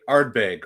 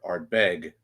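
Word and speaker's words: Ardbeg: lot of times it's like a which syllable to to stress you know so like in the US we we say arbg or Glenn Mori um sorry Glenn marangi I I gotta like unlearn um you know Glenn marangi things like that but it's you know in Scotland it would be Glenn Mori or Ard beg it's like kind of a stressing the second syllable right yeah anyway sounds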